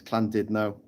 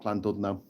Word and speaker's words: Llandudno: It's Llandudno, not Llandudno. Just saying.